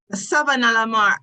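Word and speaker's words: Savanna-la-Mar: Savannah Lamar. That's how I pronounce it.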